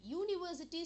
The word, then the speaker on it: university: a university a university university starts with U which is a Vel but how are you pronouncing it u u so it has the sound of Y that is why we call it a university similarly a uniform uniform